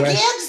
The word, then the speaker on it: Guedes: Não ele sei, fala Guedes, fala Guede. É quase como se fosse uma sofisticação da língua francesa, que nunca pronuncia o S no fim.